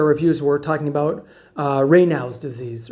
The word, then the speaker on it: Raynaud's: we're talking about uh raynaud's disease right now it's spelled r-a-y-n-a-u-d-s so it's not ray nouds it's raynaud's it's french this is a great